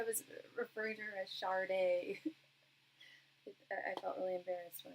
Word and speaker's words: Sade: All right, and while we are waiting for Miss Sade to, no, she pronounces it how the Yoruba people pronounce it, as they pronounce SSH.